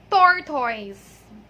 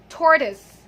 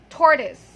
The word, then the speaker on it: tortoise: But then the correct pronunciation of that word is tortoise. One more time, tortoise. Okay, so tortoise. So the last vowel sound there is a schwa sound.